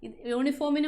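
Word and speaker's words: uniform: ആ ഒരു ഉച്ചാരണമില്ല. അതുകൊണ്ട് യൂണിഫോമിന് മുന്നേ നമ്മൾ എന്ത് ചേർക്കണം?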